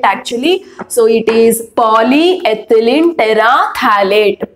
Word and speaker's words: terephthalate: Okay, so here P is silent actually. So it is polyethylene terephthalate.